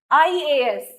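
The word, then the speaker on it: IAS: आई ए एस यानी कि sound क्या आ रही है हमारी, आई, यानी कि एन, आई।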